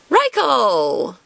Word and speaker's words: Raikou: See, this is one of those ones where if I think Japanese pronunciation, it would be Cole. But I hear a lot of people call him Raikou, so I don't know. Whichever pronunciation you've grown up with is probably the correct one for you.